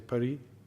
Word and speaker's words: Pari: Or if you're kind of from the French side, you say Paris. Gay Paris. So I said Paris, and she said, no, it's Pari, not Paris, come on.